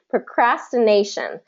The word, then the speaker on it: procrastination: CR procras procras okay procrastination okay so that again that stress nay is going to be stressed because it's right before the shun procrastination pronunciation do you